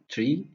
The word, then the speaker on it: trie: when I'm going to this tree comes from retrieval. This term was coined by Edward Franklin, who pronounced this tree as the word of retrieval.